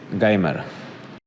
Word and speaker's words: Gamer: My nickname is Geimer. All right, down 2 strikes. Down 2. So you got Gamrot correct. And of course, he does pronounce his nickname Geimer instead of Gamer.